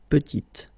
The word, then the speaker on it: petite: Final T is not pronounced, and then when you add this E at the end, you get the sound T, T, petite.